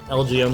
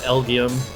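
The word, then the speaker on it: Elgyem: and elgium can do lgo not elgium I don't know why I pronounced it lgm when it's a play on lgm okay well and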